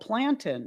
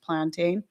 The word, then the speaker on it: plantain: she's like, "Oh, I thought it was called plantin."